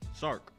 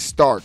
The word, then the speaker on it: Sark: I said Stark. Can you say spell it how you? You just make me sound smart when you say that. It's Yeah. S-A-R-K. S-A-R-K. Yeah. True indeed. My bad for saying it wrong.